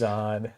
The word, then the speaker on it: Zod: Zod. Well, my name starts with a Z. See? Yeah. And it rhymes with odd.